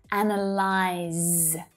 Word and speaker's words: analyze: Analyze.